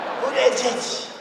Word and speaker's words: Buttigieg: Buttigieg. They say edge.